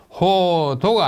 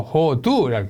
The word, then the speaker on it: 호두: 호도가 아니고 호두라고 읽고 앵도인데 앵두라고 읽고 자도인데 자두라고 읽습니다.